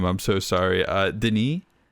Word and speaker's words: Denis: Denis, I believe is how you say his first name, has pulled off in this movie is amazing.